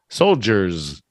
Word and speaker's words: soldiers: soldiers that's only one you gotta put a little little Zed at the end Soldier soldiers so duh all right